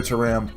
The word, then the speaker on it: Thuram: I'm pretty sure that TH is pronounced like a tuh, not a thuh.